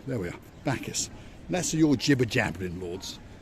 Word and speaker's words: Bacchus: Bacchus.